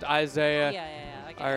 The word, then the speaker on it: isai: Chat's saying it is supposed to be pronounced Isaiah.